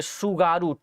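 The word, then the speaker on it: Tsugaru: है वह जो है सुगारू टी साइलेंट रहेगा भाई, सुगारू जलसंधि के नाम से जाना जाएगा, सुगारू स्ट्रेट के नाम से जाना जाएगा।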